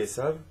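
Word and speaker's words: עשו: Esav, comment est-ce qu'on écrit Esav? Aïn Shin Vav. D'accord? Ça s'écrit Asou, mais ça se prononce Esav.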